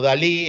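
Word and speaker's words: DALL-E: que lo busquen es se pronuncia como Dalí el pintor pero es de awl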